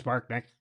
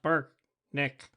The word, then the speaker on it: Brknk: leader turned to me my name is Burk Nick pronounced Burk Nick and spelled b r k n k and I'm Larry Weaver